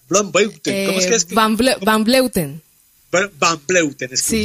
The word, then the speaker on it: van Vleuten: Me encanta, como dice Marisol, el nombre de la Blauwbeuten.